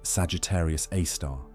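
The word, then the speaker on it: Sagittarius A*: This cosmic monster bears the designation Sagittarius A, pronounced Sagittarius A star, named for its position in the constellation Sagittarius as seen from Earth.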